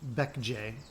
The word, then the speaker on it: Baekje: The kingdoms were this one, pronounced Goguryeo, this one, pronounced Baekje, and this one, pronounced Sheila, you know I want to be the only one.